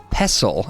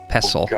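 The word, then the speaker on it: pestle: little grinding stone and I've heard that the word is pronounced pessel as in wrestle pesle mortar and pessel but I don't know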